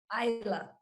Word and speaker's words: Isla: What is it? Isla. Isla. All right. Isla? Silent test.